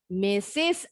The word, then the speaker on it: Mrs.: bacanya. Mrs.